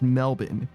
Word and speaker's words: Melbourne: But yeah, it's noon in Melbourne, which is spelled Melbourne, but it's pronounced Melbourne.